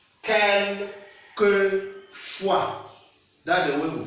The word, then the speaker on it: quelquefois: And they said you should pronounce, how do you pronounce this word? Quelquefois. Quelquefois. Quelquefois.